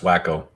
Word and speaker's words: Waco: uh silver man's right it's pronounced wacko wacko yes i've called it wacko for